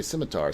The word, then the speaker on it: scimitar: he was German, so he pronounced the hard C instead of the soft C of the sim, like we say scimitar.